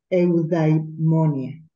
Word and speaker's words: eudaimonia: Cuando ya logramos, ¿verdad?, tener esa paz interior, porque lo que busca el estoicismo es la, a ver si lo pronuncio bien, eudaimonia, eudaimonia, es decir, la paz y la tranquilidad en uno mismo.